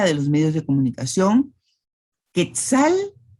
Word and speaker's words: quetzal: los medios de comunicación, Quetzal se pronuncia con la C. Hay algunas personas que dicen quesal, pero lo normal es decir Quetzal, Quetzaltenango.